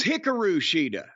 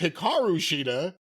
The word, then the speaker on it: Hikaru Shida: Championship from Hikaru shida that's Hikaru sheida or as her name is pronounced Hikaru shida two and a quarter